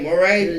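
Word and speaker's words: Morray: Yeah, Moray. I think I just kind of rolled the R's together. Moray. I just put them both together.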